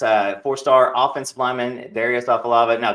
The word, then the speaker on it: Afalava: fourstar offensive lineman Darius off of lava now Darius am I pronouncing the last name right am I am I butchering it yes yo yes sir you saying it perfect all right all right